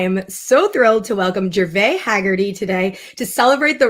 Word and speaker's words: Gervais: I was saying Gervais. I should have known. I studied French. Like, I should have known it's Gervais, which is lovely.